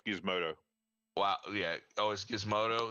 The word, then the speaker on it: Gizmodo: is the AV club gizmondo okay wow gizmondo really change and it's pronounced Gizmodo wow yeah oh giz